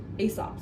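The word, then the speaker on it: Aesop: Asop. Starts with a, it's kind of a funny word. Let me help you. Starts with that a a e e sop. So that's your s sound.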